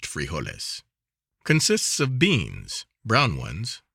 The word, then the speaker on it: frijoles: from dinner or supper is frijoles pronounced frijoles consists of beans brown